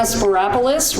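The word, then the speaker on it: Spyropoulos: get there together Marana sparis rhymes with Metropolis I'm the new Clerk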